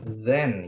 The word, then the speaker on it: then: Oke ada th jadi bacanya jangan ten ya tapi then gitu karena kalau ten 10 then kemudian kemudian next.